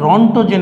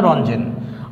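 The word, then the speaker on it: Röntgen: আমরা জানি সবাই 1885 সালে উইলিয়াম রঞ্জেন, হ্যাঁ 1885 সালে রঞ্জেন, এটাকে রন্টোজেন বলে অনেকেই, কিন্তু আসলে উচ্চারণটা রঞ্জেন।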